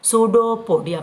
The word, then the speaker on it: pseudopodia: That's why इट is called सूडोपोडिया। बेटा P silent होता है। What I am saying the word, मैं P word नहीं बोल रही।